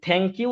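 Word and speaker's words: thank you: American কারো উচ্চারণ দেখেন দেখবেন এই থ্যাঙ্ক ইউ টা থ্যাঙ্ক ইউ বলে না বলে থ্যাঙ্ক ইউ অর্থাৎ আমাদের যে জিহবার রাগা দাঁতের রাগার সাথে লাগিয়ে চা উচ্চারণ করছি না ঠিক অনেকটা জিহবার রাগা ওরা দাঁতের আগার সাথে লাগিয়ে ওই ওইটাকে অনেকটা সা এর মত করে সাটা তো খুব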